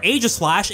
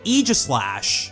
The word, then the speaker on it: Aegislash: In the anime they say Aegislash, but this is another one that could go either way. The AE combination of letters isn't that common in English, but it's pronounced differently in different words.